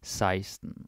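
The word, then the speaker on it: seksten: And also you notice the spelling here for 16 is sexten, but we pronounce it seisten.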